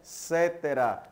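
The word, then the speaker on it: Inter caetera: Se você prestar atenção, é a linha do tratado da Bula Intercetera, tá? Se escreve Coetera, mas a pronúncia é Cetera, Bula Intercetera, de 1493.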